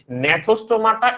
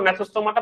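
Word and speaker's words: Gnathostomata: ও আচ্ছা, এখানে তোমাদের একটা বলে দেই, নেথোস্টোমাটা এটা উচ্চারণ, নেথোস্টোমাটা বা সামনে কি থাকবে, জি আছে একটা, সামনে কিন্তু একটা জি আছে, সামনে একটা জি আছে। তো এটা উচ্চারণটা কিন্তু নেথোস্টোমাটা, উচ্চারণ হচ্ছে নেথোস্টোমাটা। ইংলিশ টার্ম হচ্ছে, তুমি ইংলিশ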